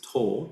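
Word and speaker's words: 唐: Tang dynasty is to tang is uh uh pronounced as to in Japanese.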